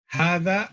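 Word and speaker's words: هذا: ஹாதா, ஹாதா அடித்தொண்டையில வரணும். ஹா தா, தால் கிடையாது, தால். அரபிக்க பொறுத்தவரையில உச்சரிப்பு ரொம்ப முக்கியம். இல்லாத தால் வேற, புள்ளி வச்சிருக்கிற தால் வேற. இது புள்ளி வச்சிருக்கிற தால். ஹாதா, ஹாதான்னு சொல்லிடக்கூடாது, ஹாதான்னு சொல்லக்கூடாது. ஹாதா, ஹாதா பைத்துன்.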